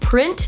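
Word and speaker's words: Prynt: the name of it I think it's called print but spelled with a y in the middle instead of an i p r y n t it's it says display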